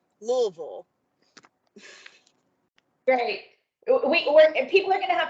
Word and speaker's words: Louisville: So just because I was born there and I want to help everybody before the annual business meeting, it's 2 syllables and the same vowel sound. Louisville.